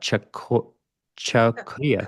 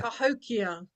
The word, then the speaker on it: Cahokia: I'm not sure if I pronounced that. Chakia. Cahokia. Cahokia.